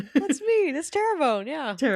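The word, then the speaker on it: Terrebonne: Terabone Parish from that's me. That's Terabone.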